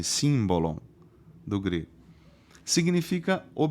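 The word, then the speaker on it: σύμβολον: grego que quer um símbolo long-run na verdade se escreve s y m b o l o n simbolon do grego significa é um objeto que é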